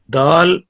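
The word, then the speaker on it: دال: Dal, pronounced as dal, start using tip of tongue touching gum of front two teeth.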